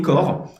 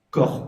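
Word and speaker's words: Kaur: par Softbot en Elixir, et Core, K-A-U-R, mais qui se prononce comme Core, comme en anglais, qui est une petite bibliothèque qu'on a release tout juste aujourd'hui, et qui est super sympa.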